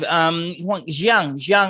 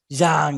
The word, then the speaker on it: Zhang: Jiang, are you there? Do you call Zhang? Right? Zhang, yes, my pronunciation is terrible.